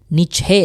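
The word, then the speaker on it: niche: Disebutnya nichhe. Dibacanya nich.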